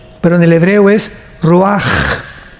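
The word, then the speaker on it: רוּחַ: h, que se pronuncia roach, pero en el hebreo es roaj. La ch en el hebreo es como J.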